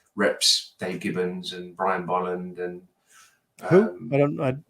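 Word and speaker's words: Bolland: Dave Gibbons and Brian Boland and I'm not sure if I'm familiar with those guys yeah it's pronounced byland b-o LL yeah um so so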